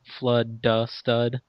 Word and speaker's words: FludDaStud: your online name well my last name is flood so flood D stud and you're a stud